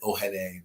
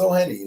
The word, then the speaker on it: Ohene: They pronounce my name like Ohene, but like it's Ohene.